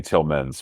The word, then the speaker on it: Tillmans: It's Wolfgang Tillmans with an S. The S is silent now.